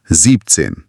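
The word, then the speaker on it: siebzehn: और 17 का क्या? बिल्कुल वैसा ही लॉजिक 17 के साथ है। सीबिन थोड़ा लंबा है। प्रोनाउंसिएशन को स्मूथ करने के लिए सीबिन का आखिरी एन हट जाता है। तो वो बन जाता है वो बन जाता है जीपसेन। समझ गई? सेक्सिन और जीप्सिन।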